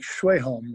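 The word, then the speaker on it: Sjöholm: home yeah yeah s-j-o-h-o-l-m like schweijholm is the way they would say it yeah leonard i i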